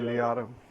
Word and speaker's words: Liotta: How you pronounce it? Ray Liotta.